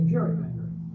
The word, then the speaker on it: gerrymander: A political cartoonist at the time exaggerated the shape into a dragon like creature softened the hard G and called it a gerrymander blend of Jerry's name Salon.